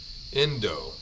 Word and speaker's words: endo: So, endo. Endo. So, just like it's spelled in do.